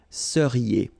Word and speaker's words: seriez: So here when you've got this Z at the end, then you get the sound E, seriez.